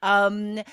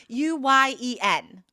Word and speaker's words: Nguyen: I know this is a common Vietnamese name and I should really remember how to pronounce it. Nguyen? No, that's not it. Aubrey, do you know? It's Nguyen.